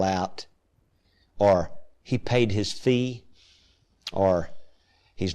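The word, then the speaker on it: Vieh: There, the word for cattle is V-I-E-H, pronounced fee.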